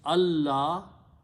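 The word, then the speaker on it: الله: So when you read them together, you do not pronounce the sound of the noon because of the tajweed, but you pronounce the sound of lam twice. So you put a shadda on lam, and you do not pronounce or write this. So it becomes Allah.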